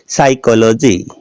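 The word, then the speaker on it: psychology: हो गया प साइलेंट इसमें देखिएगा साइकोलॉजी अस से पहले क्या है पी प है तो प क्या हो गया साइलेंट क्या बोलते हैं साइकोलॉजी यह देखिएगा न्यूमेटिक्स अन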